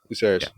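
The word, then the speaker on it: Lucerys: Yes, Luceris.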